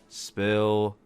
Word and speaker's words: Spill: We'll talk about all this and more right here on the 35th edition of the Chill Spill Podcast. The S is silent, by the way.